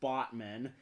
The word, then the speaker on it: Batman: You know there's a city in Turkey called Batman, except it's pronounced Botman, and is named after a river.